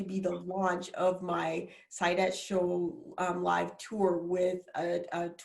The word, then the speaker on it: Saidat: My first name, Saidat, is Arabic, and it's actually pronounced Saida, but my dad is from Nigeria, and so the pronunciation is Saidat, and that means profitable and happiness.